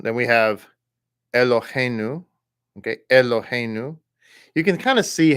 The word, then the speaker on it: Eloheinu: Okay, Eloheinu. You can kind of see how when it's written that way, the intention is that you kind of like pronounce it like like almost like a pure Sheva, like Eloheinu, Eloheinu, Adon, Malache.